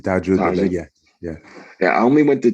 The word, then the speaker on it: Tahajjud: I was able to go to, like, I think I went to Tashud. Am I pronouncing that right? The night prayers. Oh, yeah, okay, the tahajjud. Yeah, you can say tahajjud.